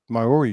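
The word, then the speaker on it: Māori: Now you are native Maori tribe, right?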